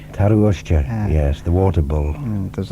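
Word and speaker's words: tarroo-ushtey: Have I got my pronunciation right? Taruushti? Taruushti, yes, the water bull.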